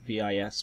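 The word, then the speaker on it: Vis: Or a V-crystal, spelt V-I-S but pronounced V.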